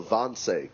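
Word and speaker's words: Wannsee: of 1942 uh referred to historically as the Vonce conference uh that's spelled W n E.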